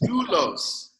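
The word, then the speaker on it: δοῦλος: Now the next word is doulos. Doulos has one diphthong, one vowel. U is your diphthong. Omicron is your vowel. So that means it also has two syllables.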